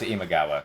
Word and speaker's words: Imagawa: a very important faction I don't know if I pronounced her name right no it's imagawa I mean he you